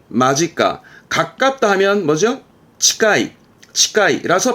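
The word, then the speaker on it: 間近: 예, 이것도 발음은 마지까.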